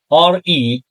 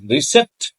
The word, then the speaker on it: receipt: RECEIPT. But P is silent. Students pronounce them as receipt. It is receipt because P is silent.